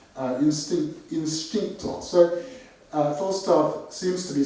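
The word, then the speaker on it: インスティンクト: So as I just said, what's interesting here is that it's written homo, but it's pronounced instincto.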